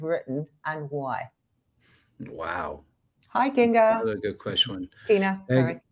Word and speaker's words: Kinga: She spells it Kinga, but then everyone says Kina, but she goes, no, call me Kinga. So I just say Kinga for now. I just say it how it's spelled.